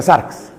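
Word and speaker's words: σάρξ: Y así se pronuncia sarx.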